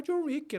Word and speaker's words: Jhon Ricky: Só que da mesma pronúncia, né?